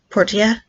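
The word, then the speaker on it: Portia: lot today yesterday is my time in Porsche or Portilla I keep pulling at Porsche I don't know why but the characters in the game pronounce it Portilla and I really like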